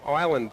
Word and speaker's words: Highland: Liam Highland is the pronunciation.